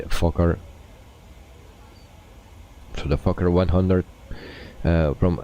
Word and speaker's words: Fokker: So for the people that are interested in the Fokker, and some people will say that I pronounce that very wrong or strange. So we say Fokker.